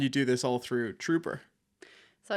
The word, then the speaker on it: Truper: not where it's from it's not spelled with a double O it's t r u p r So True